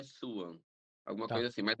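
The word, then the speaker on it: Sioux: o nome oficial é suan alguma coisa assim mas aquela que se escreve seks Então eu acho que dificilmente alguém vai olhar seks e ler su aham eh e é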